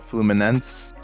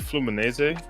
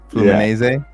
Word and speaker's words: Fluminense: bit of the uh the Fluminance uh versus Alhillo. Am I pronouncing that correctly? Fluminance. Is that correct? I think it's Flumines. Flumines. Oh, yeah. Brazil. Flum. Flumines. You did Italian hands. I pretend like I was pretend like it's Spanish, man.